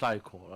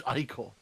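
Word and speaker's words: ichor: That's pronounced eyecore. I did I know I did it wrong the first time, but please please please he's saying it right there. Creature. It's eyecore.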